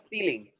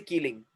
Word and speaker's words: ceiling: Next one. C is coming with E. Ceiling. Ceiling. We don't say keeling.